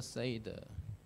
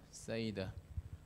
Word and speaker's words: seder: Hebrew, it could be seder, like seder olam, seder. But in English pronunciation, it's a seder, seder. I don't know why, how it became seder. But anyway, in English pronunciation, it's a Passover seder.